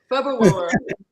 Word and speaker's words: February: And did you notice how I pronounced it? Because there's 2 R's in February. February.